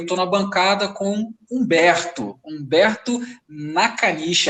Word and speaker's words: Nakanishi: E eu estou na bancada com Humberto Nakanishi, é assim que pronuncia, meu mano?